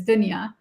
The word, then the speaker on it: Dunya: Dunya, but the way to pronounce it is Dunya.